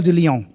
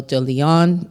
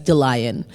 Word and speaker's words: de Lyon: my name is de Lyon, and interestingly, growing up, a lot of people, including myself, could not say my last name, and they would mispronounce it on purpose, sometimes by mistake, as DeLion.